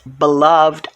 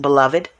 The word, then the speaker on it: beloved: It's pronounced beloved. I've also heard it pronounced beloved.